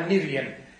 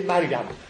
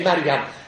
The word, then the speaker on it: Mariam: Alors il faut prononcer Mariam. Je ne sais pas pourquoi on prononce Myriam, c'est à cause de l'Afrique du Nord. Alors, c'est Mariam.